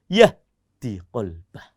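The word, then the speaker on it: يَهْدِ قَلْبَهُ: yukmin Billahi Yahdi qolbah ingat bacanya pendek Yahdi qolbah karena ini jawab wallahu bikulli saaiin Alim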